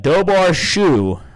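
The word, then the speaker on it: Dobhar-chú: So first we had the Dobar Shu. I think I actually pronounce it Chow, but Dobar Shu, which is spelled DOBHAR-CHU, which is an Irish term for water dog, water hound, or king otter.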